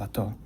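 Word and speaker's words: אתה: Ata means you. Why do you say ata instead of ato? In Ashkenazi Hebrew, it is ato. But that vowel, the kamatz vowel, in Sephardic Hebrew is ah.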